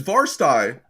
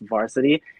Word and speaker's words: VRSTY: like mispronounced it like oh i love you guys varstai i literally just posted like a status about this like yesterday and it even says it in our bio on ig like it's pronounced varsity every time i go somewhere we have a shirt literally that says it's pronounced varsity okay thanks oh man because